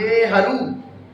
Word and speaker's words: नेहरू: तभी कहा कि नेहरू। शुद्ध शब्द तो यही है, ऐसे लिखा जाता है, लेकिन उच्चारण कैसा है? लघु उच्चारण।